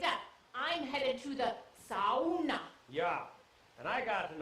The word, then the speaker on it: sauna: Sauna. No, sauna. It has 3 syllables.